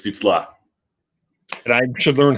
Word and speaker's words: Stützle: And you got to say it right, too. It's Stützle.